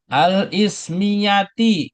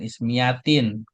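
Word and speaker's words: الاسمية: Al ismiyati, ya, ini juga al ismiyati, jangan ismiyatin. Karena ada alif lam.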